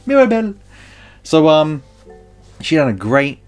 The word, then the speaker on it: Mirabel: I don't know why I'm saying it like that, but that's how they say it in the film. Mirabelle.